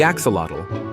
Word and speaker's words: axolotl: The axolotl. Looking like a Pokemon that somehow escaped the game, the axolotl, pronounced axolotl, is a type of salamander that never quite grew up.